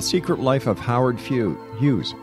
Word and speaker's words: Hughes: life of Howard few Hughes why do I want to say Howard fuse because it rhymes with user has will be back